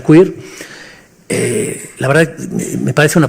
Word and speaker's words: queer: Queer, Q-U-E-R, se pronuncia queer.